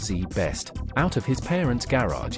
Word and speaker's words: ZZZZ Best: Barry Minkow started ZZZZ Best, pronounced Z Best, out of his parents garage in 1982.